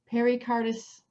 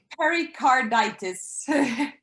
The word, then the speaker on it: pericarditis: can pronounce it right pericardis oh i had it written down pericardis say it what is it pericarditis carditis oh i put it is okay pericarditis now this whatever they